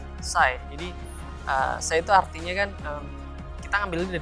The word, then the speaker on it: Psy: Sci itu kan tulisannya PSY ya. Iya. Jadi kita jangan sampai nyebutin pesi. itu ya nggak masalah sih ejaan bahasa Indonesia, cuman lucu aja gitu. Sci. Jadi Sci itu artinya kan kita ngambilnya dari psycho, psikologi.